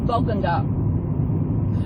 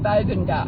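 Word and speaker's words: Bogangar: Cabarita, it's really funny because there's Cabarita and there's Bogunga. Some people pronounce it Bogunga. It's Bogunga.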